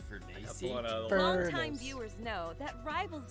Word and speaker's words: Furness: It's actually pronounced Furnace.